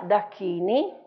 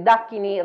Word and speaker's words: Dakini: yakini seme in realtà io un po' italianizzato Qui si dovrebbe dire dakini rakini lakini kini sakini rakini e